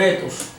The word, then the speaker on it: Ἔθος: en muchas otras lenguas proviene de una raíz griega etos etos la pronunciación etos y se refería a